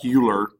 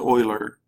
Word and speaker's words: Euler: and Leonard Euler even though that looks like Euler it's pronounced Euler who was a Swiss mathematician kind of came